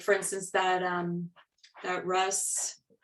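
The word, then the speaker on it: Rhus: like, for instance, that Russ, I always pronounce it Roos. Roos, yeah. Just to show you what do I know? No, Roos, yeah, Roos is fine.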